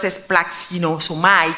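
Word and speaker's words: σπλαγχνίζομαι: Esa palabra cuando se usaba compasión, que en griego es un poquito difícil de pronunciar, pero es splaxinosomai, quiere decir profundo, interno.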